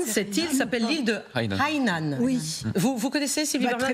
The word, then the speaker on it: Hainan: Bon, de toute façon, il y a une montée à Hainan très souvent. Ah oui, il faut dire Hainan, c'est ça.